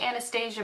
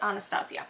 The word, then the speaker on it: Anastasia: palette from anastacio anastasia i'm pretty sure it's actually pronounced anastasia but all of us try to make it fancy and call it Anastasio so I'm gonna use